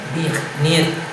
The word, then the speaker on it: Zbigniew: Y otro, al que admiraba, otro poeta, escritor, es a Zbigniew, Herbert Zbigniew. No es que esté haciendo mágaras, es que se pronuncia así.